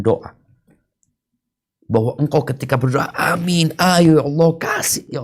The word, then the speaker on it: Aamiin: ini yang benar tafadol ada beberapa cara baca Amin yang pertama para ulama mengatakan yang paling fasih adalah ee dengan memanjangkan dan meringankan bacaan minim tib Ya ini yang